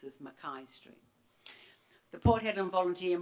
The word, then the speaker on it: McKay: Headland State School Building on McKay Street or pronounced as Mai Street.